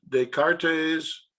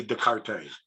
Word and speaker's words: Descartes: silent i would say descartes the cartes yeah i'm pretty sure that the s is silent i'm not professional or